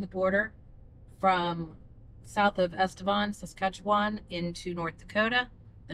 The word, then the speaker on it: Estevan: Estevan. Yeah, Estevan. We were both pronouncing that wrong.